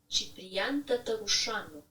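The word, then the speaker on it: Ciprian Tătărușanu: This is how you pronounce. Ciprian Tatarusanu.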